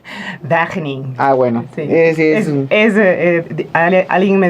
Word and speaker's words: Wageningen: Entonces cuéntame un poquito cómo es esta universidad de los Países Bajos que yo no puedo pronunciar. Wageningen.